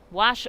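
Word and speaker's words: Guasch: on 94 by wash wash spelled g-u-a-s-c-h a silent g here's the 2-1 in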